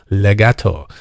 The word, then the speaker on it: legato: In fact, in its Italian pronunciation, the sound of the word is very similar to its meaning, legato.